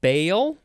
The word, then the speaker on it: Baal: Now we have, let's see, bail. I think it's how it's pronounced.